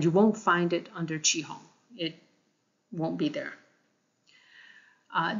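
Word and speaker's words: 雌雄: and male uh now the cat Cantonese pronunciate pronunciation of this is chihong and I'm going to use that because I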